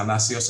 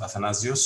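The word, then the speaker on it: Athanasios: is how it's written but it's pronounced with two s because it's a fanasius and not athanasius so anywho anyway um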